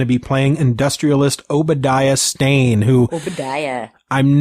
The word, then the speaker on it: Stane: Because it's not spelled like that. It's it's Stane. It's Stane.